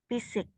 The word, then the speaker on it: physics: exam oke oke hold Phisik fisik fisik PH di Inggris itu dia jadi F ya ak penyanyi ada namanyael